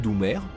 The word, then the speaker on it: Doumer: Si le ministre de la Marine marchande propose l'appellation président Paul Doumer, en hommage au président récemment assassiné, l'idée est rejetée. En effet, prononcé à l'anglaise, ce nom évoque le mot doomed, soit maudit.